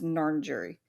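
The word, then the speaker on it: Ngarrindjeri: so the narn jury it is spelled n-g-a-r-r-i-n-d-j-e-r-i and I I did do how to pronounce and it said it was narn jury so cool alrighty they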